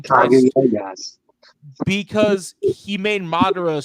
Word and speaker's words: Kaguya: Didn't he do the Kaguya, or however you say her name? Kaguya, yes.